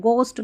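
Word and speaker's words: ghost: जो जी एच रहता है ना, जी एच को घ फ और साइलेंट, मतलब देखिए यहाँ पर इसको घोस्ट नहीं पढ़ना है, ठीक है, इसको गोस्ट पढ़ना, गोस्ट, गो कर दें यहाँ पर, जी ओ जैसे गो होता है ना वैसे गोस्ट, इसको जी एच ओ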